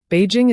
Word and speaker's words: Beijing: That's Beijing in Mandarin, and it means northern capital. It is spelled Bijing, though pronounced more like Beijing, with a soft J. Beijing is located in the